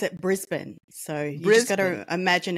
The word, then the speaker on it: Brisbane: that where we are yes uh here we pronounce it Brisbane so you got to imagine it's BR I